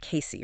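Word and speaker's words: Cayce: Case. That's C A Y C and pronounced Casey.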